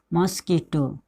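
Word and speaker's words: mosquito: Right, आप लोग समझ गए, यहाँ पे क्यू का उच्चारण जो है क के रूप में हो रहा है। मॉस्क्यूटो, इसको क्या पढ़ेंगे? मॉस्क्यूटो। मॉस्कीटो, मॉस्कीटो मतलब क्या होता है?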